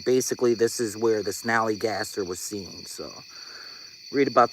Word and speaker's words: Snallygaster: And the first one I want to talk about is something called a snallygaster. Spell it Snallygaster.